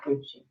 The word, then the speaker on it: Gucci: I am pronouncing it properly, right? The designer's name. Yeah, Gucci.